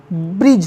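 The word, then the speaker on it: bridge: बाद जी आया है तो यहां पर डी साइलेंट हो जाएगा तो जो कि क्या हो जाएगा ब्रिज हो जाएगा जिसका मतलब पुल होता है नेक्स्ट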